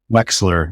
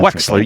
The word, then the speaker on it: Wechsler: Wechsler, is that how you pronounce it? Wechsler. Yeah, Wechsler.